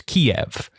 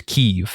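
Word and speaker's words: Kyiv: of Ukraine Capital as Kiev but I recently learned that the preferred Ukrainian pronunciation is keev and so I've been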